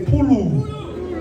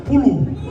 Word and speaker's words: pulu: Everyone say pulu. One more time, pulu. It's spelled P-U-L-U.